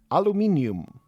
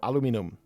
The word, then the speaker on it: aluminium: So we are kind of lucky to get an iron deposit close, and this is the aluminium or aluminum deposit, depending on how you pronounce this.